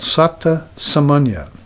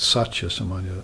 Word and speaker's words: Satta Samanya: there's this experience called Satta Samanya. I might have mispronounced that before. I might have said Satya Samanya, which means Satya means truth, but Satta Samanya, if I mispronounce it, is the correct way.